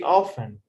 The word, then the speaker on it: often: Yes, yes, For example, the word uh, often yes. in the US, they don't pronounce the T. They just say often.